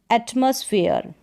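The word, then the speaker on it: atmosphere: तो यहाँ पर देखा कि ई आर ई के कॉम्बिनेशन वाले में ई का उच्चारण ईय करके होता है। जैसे स्फीयर, मेयर, सिंसियर, एटमॉस्फेयर, तो इस तरीके से ई का उच्चारण ईय।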